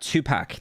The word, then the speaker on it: Tupac: That Tupac, that's how you say his name.